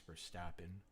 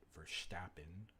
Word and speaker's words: Verstappen: He reminds me of a young Max Verstappen. I'm sorry about the pronunciation. I know I should have pronounced it Verstappen. Sorry to all our Dutch viewers today.